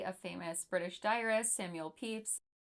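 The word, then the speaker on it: Pepys: famous British diarist Samuel peeps yes that is actually how you say his name from the 22nd of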